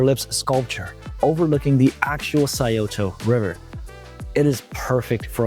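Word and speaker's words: Scioto: and foremost you got the sayoto river that's how you pronounce it let me tell you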